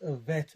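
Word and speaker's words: ב: letter which is that it's a bet without the gas is pronounced a vet or ver sound a vet a giver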